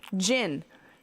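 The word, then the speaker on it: djinn: Gin.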